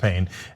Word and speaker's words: Payne: yeah I know okay it's p a y NE but it is pronounced pain and he and he